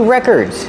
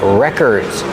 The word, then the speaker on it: records: Ah, I see records. These are called records. Pronunciation, records. Put the stress on the first syllable.